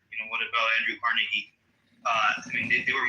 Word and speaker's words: Carnegie: for his employees far more than I respect Carnegie or Rockefeller. They were very men. Okay. So, well, pronounce his name right. It's Carnegie.